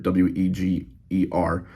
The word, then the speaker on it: Weger: Husky and I think Weeger, Weger is how it's pronounced.